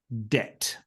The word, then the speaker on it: debt: we came up with this one word um where the B is silent um and uh and that particular word is debt okay debt to be